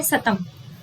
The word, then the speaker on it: सतम: तो आप देखेंगे एक है सतम। सतम यानी कि जो इसके प्रोनाउंसिएशन को स पढ़ते हैं वो है भारत ईरानी, स्लाविका, आर्मीनी, अल्बानी, राइट, इन क्षेत्रों में बोली जाने वाली भाषा।